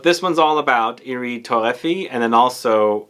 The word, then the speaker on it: Torréfié: here or iris torrefi that's how i guess it would be pronounced if you read it in english but irie torahfi torrefi is how you say it i think in french in the french accent and i'm not doing